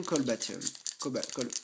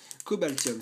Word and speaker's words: Cobaltium: blanc pouvoir émergent l'illustration colbatium Cobaltium ah je me trompe toujours sur sur la prononciation de ce Pokémon Cobaltium c'est pas colbatium allez on passe maintenant